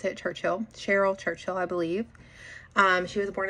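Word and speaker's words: Caryl Churchill: A big face behind feminist theater is going to be Carolyn, however you pronounce it, Churchill. Cheryl Churchill, I believe.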